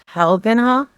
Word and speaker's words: Telgenhof: Alan Telgenhof? It's just like Tal and then Hulk.